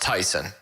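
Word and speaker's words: Taisun: i've looked it up so it's t-a-i-s-u-n that's pronounced tyson and p-h-o-m-m-a-c-h-a-n-h oh it's tyson pumachon really tp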